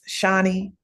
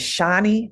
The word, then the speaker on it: Shawnee: My name is Shawnee, not Shawnee. I'm Shawnee.